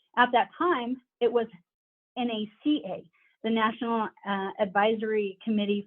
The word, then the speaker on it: NACA: don't realize is the NACA is actually an initialism that's pronounced by saying each of the individual letters whereas NASA is an